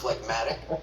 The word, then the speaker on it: phlegmatic: The G is silent in its root word, but not in this adjective, meaning stolid and slow-moving.